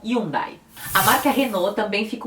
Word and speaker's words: Hyundai: mas é simplesmente almada outra marca com h que também acontece a mesma coisa é a hyundai que eles falam e um dae a marca reno também